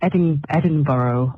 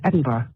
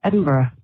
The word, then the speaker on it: Edinburgh: It's not Edinburgh either. It's Edinburgh. Edinburgh. That's it.